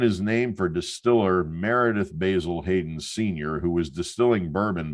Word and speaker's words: Basil Hayden: And because of this heritage, I always find myself wanting not to say Basil Hayden, like I hear bartenders and bourbon fans say, but to add to that proper British pronunciation to Basil Hayden.